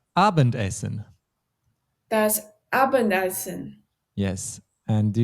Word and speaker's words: Abendessen: Das Abendessen. Yes, I emphasized the word essen a bit. More naturally, we would say das Abendessen.